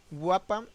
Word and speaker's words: WPA: WAPA, mejor pronunciado, fue la respuesta a los principios fallos y vulnerabilidades de la web.